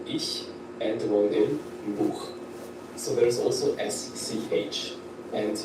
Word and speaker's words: Buch: We pronounce this in a very special way. For example, we have the phrase ich. Ich. Ich means I. Or we can also take the word Buch. Buch.